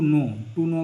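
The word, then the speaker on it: know: यहाँ पे ध्यान रखना, टू नो मतलब जानना होता है, और यहाँ पे जो के है ना वो साइलेंट रहेगा, तो नो पढ़ा जाएगा। ध्यान, इसका जो प्रोनाउंसिएशन इसका नो होगा, ध्यान रखना है।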